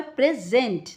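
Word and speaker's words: present: The highlighted word is pronounced with the stress on the second स्लेबल। यहां पर second स्लेबल है। पहला फर्स्ट स्लेबल है पी आर ई प्री। और सेकंड स्लेबल है सेंट। तो यहां पर प्रेजेंट।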